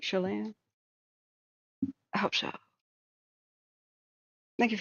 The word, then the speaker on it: Chelan: It's like, it's pronounced Chelan. Like emphasis on Chelan, right? Am I finally saying it right? Chelan?